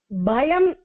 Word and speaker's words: பயம்: Bhayam, because it's a Sanskrit letter, we are pronouncing pa as ba.